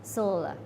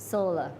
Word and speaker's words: sol: อาทิตย์ นั่น เอง ครับ sol แปล ว่า เกี่ยว กับ พระ อาทิตย์ ออก เสียง ว่า sol sol พลัง งาน แสง อาทิตย์